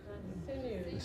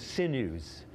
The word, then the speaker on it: sinews: I can't even pronounce that word. The what? Sinews. Sinews.